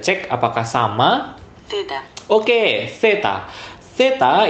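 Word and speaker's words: zeta: Theta itu adalah huruf Z di bahasa Indonesia, di bahasa Spanyol dibacanya theta.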